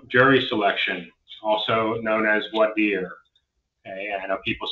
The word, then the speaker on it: voir dire: I say it, maybe I'm wrong, I say voir dire. Okay, so voir dire, jury selection, and if you're not comfortable with the pronunciation, especially with the first DUI trial, go ahead and just call it jury selection.